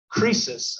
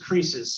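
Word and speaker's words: Croesus: it um but uh crisis i think is the the correct way to say it but as rich as creases so crisis was the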